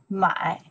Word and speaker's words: 买: This character, we pronounce the mai.